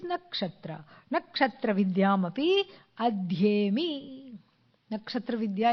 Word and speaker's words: Nakshatra: Then, of course, what rhymes with Kshatra is Nakshatra.